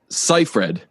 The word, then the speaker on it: Seyfried: It's under my favorite pictures that just says how to pronounce her name, and I still never. I think it's Seyfried, isn't it?